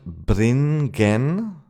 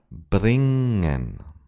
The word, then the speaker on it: bringen: It's not bringen or bringen but bringen. In order to practice this, make a long sound and then pronounce the suffix oppressing the urge to say g bring. In German, the NG is nearly always pronounced N without a G.